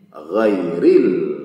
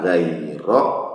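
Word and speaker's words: غَيْرِ: ada pada kata gai Mengapa ghairil dibaca dengan majrur, dengan kasrah, dengan i? Ghairi tidak ghairo atau ghairu.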